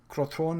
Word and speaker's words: Crotone: Those being Sampdoria, Crotone, I believe is how the name is pronounced.